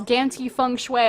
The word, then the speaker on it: Gamtee Fenghui: It is Gamtee Fenghui, otherwise known as GTF. Not going to add an extra syllable onto the end of that one.